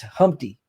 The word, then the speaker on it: Humpty: His name is Humpty, pronounced with an umpty.